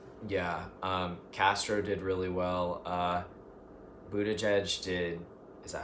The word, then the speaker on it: Buttigieg: Buttigieg did.